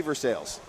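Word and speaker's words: Versailles: sir it's Bell Fountain verai Kentucky that'd be versales that's Dusty segretto with a drain there that's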